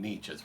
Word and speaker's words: Nietzsche: right so first start notice how I pronounce his name I do not pronounce German well I've never studied much of it except the grammar but right let's just say it this way we will say it as Nietzsche that's pretty close to what I hear German